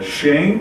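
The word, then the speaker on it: שֵׁם: É interessante que aqui há até um trocadilho no hebraico, porque nome ou fama aqui é Shem e o unguento é Shemen. A pronúncia é mais ou menos essa.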